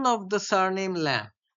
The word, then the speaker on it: Lamb: অফ the surname ল্যাম্ব, এবারে স্পেলিংটা কিন্তু LAMB, কিন্তু তোমরা এটাকে ল্যাম্ব বলবে না, মানে you will not pronounce it with the stress on the last A alphabet, ল্যাম্ব বলবে না, বিটা কিন্তু silent, so you have to সে ল্যাম্ব, ল্যাম্ব নট ল্যাম্ব।